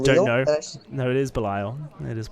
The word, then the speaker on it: Belial: I like that we're talking about pronunciations in chat, Yeesh. For those who don't know, no, it is Belial. It is Belial.